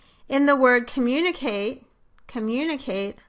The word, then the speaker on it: communicate: In the word communicate-- communicate, on the other hand, the pitch of the voice goes down slightly in the first syllable and then rises to a peak in the second syllable, mun, and falls off in